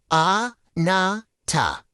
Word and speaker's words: anata: And just like we did before, let's sound out the syllables. A-na-ta. It has a really nice flow, doesn't it?